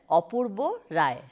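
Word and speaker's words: Apurba Roy: in the poor village opus full name is apoorva Roy in Bengali it is pronounced as Appa Bo Rai his childhood is spent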